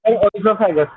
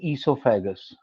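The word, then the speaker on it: esophagus: ओइसोफेगस, इसको बोलते हैं ईसोफेगस। ओ साइलेंट रहता है, ईसोफेगस स्पेलिंग में तो आता है। सर मेरी टीचर ने तो ओइसोफेगस बोला था। नहीं, गलत प्रोनाउंसिएशन बोल रही है तुम्हारी टीचर। It's called ईसोफेगस।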